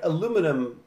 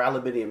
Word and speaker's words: aluminium: buy coca-cola so but like aluminum or aluminium depending on how you say it and like that's okay